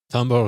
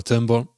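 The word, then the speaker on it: timbre: that sound the best tber or Timber depending on how you pronounce it is the uh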